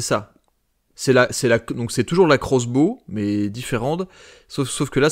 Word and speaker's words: X-Bow: Oui, pardon, Crossbow, ça se prononce.